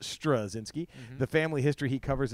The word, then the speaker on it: Straczynski: by j michael strzinski pronounced pronounced strazinsky the family history he